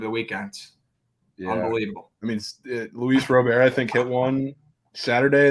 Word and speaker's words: Luis Robert: to you too apparently Louise Robert's name is Luis Robert yes yeah would you